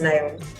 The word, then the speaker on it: Neom: Is it pronounced Neom?